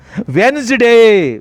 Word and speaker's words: Wednesday: Wednesday, that is the right pronunciation. Wednesday, not Wednesday. Wednesday. Here D is a silent letter. We should not pronounce D.